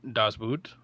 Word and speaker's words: Das Boot: Das Boot. German pronunciation. Das Boot.